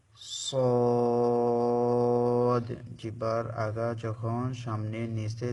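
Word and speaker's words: ص: লক্ষ্য করে বলুন সদ সদ একটু মোটা করে উচ্চারণ হবে সিন এবং যা চিকন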